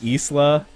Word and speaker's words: Isla: correcting my pronunciation on isla uh it's not like the island by scotland it's isla it's isla because uh she's latin american oh that was wrong